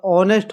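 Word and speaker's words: honest: H silent है तो ऑनेस्ट हो जाएगा।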